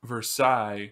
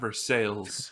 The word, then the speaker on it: Versailles: say one more thing it's versaille not versailles i agree but okay